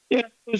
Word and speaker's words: Tei: search and realized that the TEI is actually pronounced as T as well.